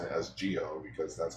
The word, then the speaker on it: Zi-O: I'm pronouncing it as Gio because that's how they pronounce it. Oh, it is Zio. No, but they pronounce it Kamen Rider It's just them. Grando O Gio because It's pronounced Geo, but Yeah, it's but- spelled with a Z.